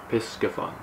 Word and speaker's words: Piscifun: right here we go pisgah pisgaphan that is how you pronounce it i haven't known until